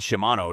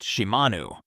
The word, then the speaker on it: Shimanu: Kurapika calls out to the maid Shimano to go prepare lunch, but she corrects him. Her name is actually pronounced Shimanu.